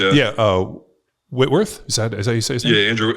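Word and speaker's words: Whitworth: Rams Whitman Wworth yeah yeah uh Witworth is that is that how you say his name yeah Andrew Witworth yeah yeah he was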